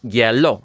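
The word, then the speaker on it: hielo: And then the IE form one single syllable, where that I makes like kind of like a Y sound at the front. So it's IE makes yeah, and then you have lo. So it's yellow.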